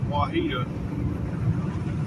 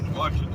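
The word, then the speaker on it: Ouachita: It's spelled Q-U-A-C-H-I-T-A. To me, that's Wahita, but it could be Washita or I don't know.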